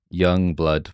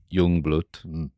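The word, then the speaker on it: Youngblood: we're supp supposed to pronounce his name as uh young blood but with the same accent as the bad guys in The Great Escape or an's current favorite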